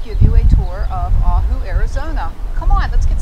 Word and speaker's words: Ajo: you a tour of ahu arizona come on let's get started throughout the video the correct pronunciation is ajo arizona before we start